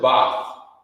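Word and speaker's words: בת: In the ancient Hebrew, you would pronounce it Bath.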